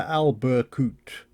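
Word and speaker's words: Albercutx: You can just make out the watchtower I mentioned before, Talaya de Albercut. Turns out you don't pronounce the X at the end, up on the top of that peak.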